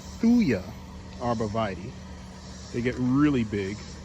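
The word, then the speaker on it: Thuja: what you call that a fuja or thuya me and my pronunciations that's a thuya arbavidi they get really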